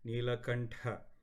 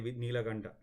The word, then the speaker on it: Neelakantha: Let me just tell you, especially when you said Neelakantha. I have heard people, when they sing, they say Neelakanta. Sounds good. I'm not going against it, but when you pronounced it as Neelakantha, they always say, especially